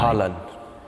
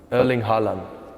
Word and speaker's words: Haaland: Haaland. Erling Haaland. Simple as Better, that. yeah. Erling Haaland. Erling Haaland. I have to think because it's a bit different in Norwegian and English.